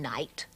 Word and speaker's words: knight: One doesn't pronounce the K these days. It's no knife, knit, knock, knee, knuckle, and knight.